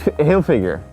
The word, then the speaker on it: Hilfiger: Like figure. But it's not Hilfiger. figure. It's Hilfiger. okay. You just gotta say it fast.